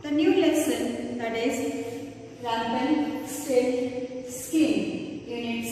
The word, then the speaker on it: Rumpelstiltskin: So together, if we join these words together, we can pronounce it as Rumpelstiltskin.